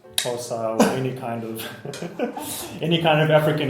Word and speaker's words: Xhosa: So the language is called Xhosa. What This is a clip. Of course. What? Can you? So it's spelled XHOSA.